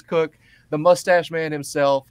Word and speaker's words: Koch: learned this just now cook is the the way that he pronounces his last name it is not Coke it is cook the mustache man himself